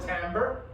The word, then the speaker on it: timbre: the word Americo Americans call it tamber um but it's it's written like this it's Italian it's okay this